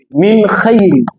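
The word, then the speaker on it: مِنْ خَيْرٍ: Min khayri. Min khayri. Khayri. Min khayri. You see that this noon, it is pronounced. We did not hinder it or hide it.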